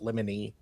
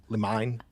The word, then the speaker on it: limine: limine I've heard uh I always pronounce it lemony but like uh some lawyers pronounce it uh lemon or lemon lemon lemine you've come to the